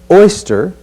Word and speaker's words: oyster: look at the word oyster another diff thong oi oi stir as in oi stir the pot oi oyster when we